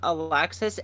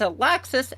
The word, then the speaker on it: Alexis: Lexi is short for Alexis. It depends on where you're at in the region of Earth. Um, if you're in the more Nordic Scandinavians, uh, that's pronounced as like Alexi and that is a man's name.